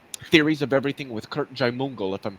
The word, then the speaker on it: Jaimungal: And recently, actually, it was probably about 2 months ago, I on Theories of Everything with Kurt Jaimungal, if I'm pronouncing that right.